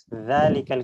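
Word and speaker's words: ذَٰلِكَ: যাতে কোন সন্দেহ নেই জালিকাল কিতাব এটা জাল দিয়ে হবে একটু পাতলা এবং নরম উচ্চারণ আর উলাইকাহুমুন এটা উচ্চারণটা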